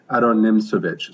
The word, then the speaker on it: Aron Nimzowitsch: but we pronounce it Adon nimich so the emphasis is on the second syllable of the last name the so and the